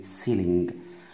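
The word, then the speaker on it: ceiling: قلنا السقف اسمه سيلين نلاحظ ان حرف الياء هنا اتكررت ولكن نطقت لماذا لان طبعا في فاصل بينهما اللي هو حرف الال بينما حرف الياء وحرف الياء الثاني نلاحظ نطق الاول والثاني لا ينطق عشان الاتنين جم مع بعض مباشر ولكن اذا كان في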